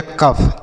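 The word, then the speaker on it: cough: जैसे सी से पढ़ेंगे क और ओ यू जी एच को हमने बताया फ तो ये हो गया कफ।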